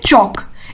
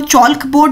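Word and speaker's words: chalk: लेकर पढ़ाती है दोस्तों उसे चौक इसमें जो ऑयल है वह साइलेंट है तुम चौकोर नहीं बोलोगे बोलोगे चौक बूट शौक बोर्ड ठीक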